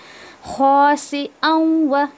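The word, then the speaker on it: خاسئا: ख़ासिअन, देखिए यहाँ पर हमज़ा को अच्छे से अदा करें आप, ओके।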